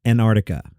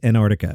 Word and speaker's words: Antarctica: Antarctica and I realized in my native Queen's accent the southernmost continent often comes out as Antarctica like no T no C just Antarctica I Dro an entire syllable there I digress uh